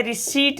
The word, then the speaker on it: receipt: रिसीट लिया है। रिसीट पढ़ेंगे इसको। रिसीट मतलब रसीद। ठीक है, रिसीट बोलना, रिसीट। ओके, तो ये सब जो शब्द है इसमें आपने पी साइलेंट किया है।